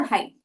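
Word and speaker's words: height: अब वेट और हाइट, wait और हाइट इनमें देखेंगे आप तो GH साइलेंट हो जाते हैं, तो हम वेट ऐसे बोलते हैं। स्पेलिंग में भले GH आते हैं, पर बोलते वक्त हो जाता है वेट या हो जाता है हाइट।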